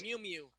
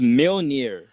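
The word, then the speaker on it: Mjölnir: pronounce. Mew Mew. Meow meow. It's Mjolnir.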